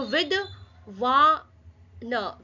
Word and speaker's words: विद्वान: So with पहले with बोलेंगे उसके बाद छोटा जो अक्षर है आधा अक्षर है उसको प्रोनाउन प्रोनाउंस करेंगे। सो विद व न विद्वान समझ में आया? यह व है। व में छोटी इ की मात्रा यह द इसके नीचे आधा व है। आ की मात्रा न विद्वान विद्वान थे।